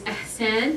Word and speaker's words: Ihsan: My name is Arabic. It's Ahsan, the correct pronunciation. Ihsan, like Hebrew, it's a hard pronunciation.